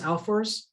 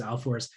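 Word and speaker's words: Ahlfors: uh on h a-h-l-f-o-r-s i'm pretty sure it's alforce but if you just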